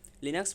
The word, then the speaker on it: Linux: third number is linux linux pronounced lean ux is a family of